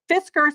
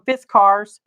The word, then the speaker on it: Fiskars: these are business cards Fiskars I say Fiskars and a lot of people on the youtubes call them fist cars I don't know pronouncing